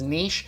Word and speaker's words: niche: I would argue that by going by your own reasoning here, it should be pronounced niche because it is originally derived from a French word, so you have to pronounce it as niche.